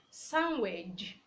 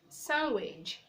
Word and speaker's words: sandwich: We also have other words like handsome, handsome, sandwich, sandwich. The D is silent.